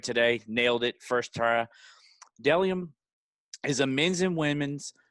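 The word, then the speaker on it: Bdelliom: it is but my second sponsor it's dellium pronounced d uh dellium spelled b-d-e-l-l-i-o-m always pointed that shirt i did great today nailed it first tara dellium is a men's and women's minimalistic brand that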